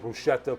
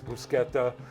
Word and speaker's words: bruschetta: again by the way don't pronounce it bruschetta please it's brusketta okay going forward we're